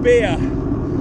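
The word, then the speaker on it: Bere: So at the moment, I'm riding through the ancient forest of Beer. And that's spelled B-E-R-E, and it's not actually anything to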